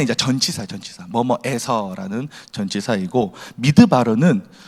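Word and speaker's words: מדבר: 전치사인데 그 뒤에 드르라고 발언나니까 원래는 다바르예요. 다바르 이게 뭐냐? 말씀이 말씀 말씀을 다바르 이렇게 해요. 근데 이게 이게 합쳐지면서 합성어가 되니까 드바르 이렇게 발음이 나는 건데 미드바르 이것이 광야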